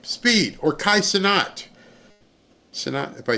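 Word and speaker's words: Kai Cenat: Speed or Kai Sonat if I say his name wrong.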